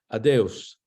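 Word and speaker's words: adeus: already know adios and it's very very similar it's spelled instead of a-d-i-o-u-a-d-i-o-s it's a d e u s adeos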